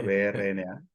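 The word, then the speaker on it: Brno: de Mendel Berna Berna no sé cómo se pronuncia brna Berna sí Berna Berna pero sin la algo así Eh pues su ciudad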